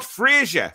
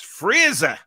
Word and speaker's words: Fraser: It's not Frasier. Frasier was an American comedy series. It's Fraser.